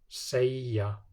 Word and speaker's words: segja: Between a vowel and y or yóð, it's pronounced y. Lygi, þægiskópla, segja.